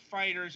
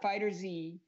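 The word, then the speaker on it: FighterZ: just to clarify just to clarify things it's pronounced Fighters and not Fighters I'm so glad you're clarifying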